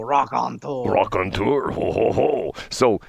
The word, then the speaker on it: raconteur: to call him a raconteur? Yeah, that's a great description for Scott. Okay. So you have to say it like you're French, though. Raconteur.